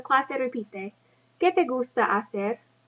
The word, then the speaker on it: hacer: So clase repite, ¿Qué te gusta hacer? Make sure you do not pronounce that H, hacer.